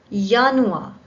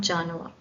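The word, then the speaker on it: Januar: now if you see J is pronounced Y which means that all the words that start in start with j in German needs to be pronounce as y for example yanu not janua Yan L Li m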